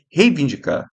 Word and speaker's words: reivindicar: O que eu já vi de gente falar reivindicar, não é rei reivindicar.